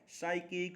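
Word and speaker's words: psychic: और आप फिर से ध्यान लें साइकिक में पी है साइलेंट।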